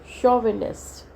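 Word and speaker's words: chauvinist: Confusion है अगर मैंने बोला चेयर, है ना, और मैंने बोला शोविनिस्ट. अब यहाँ पे CH इज प्रोनाउंस्ड एज च, और यहाँ पे इस केस में CH इज प्रोनाउंस्ड एज श.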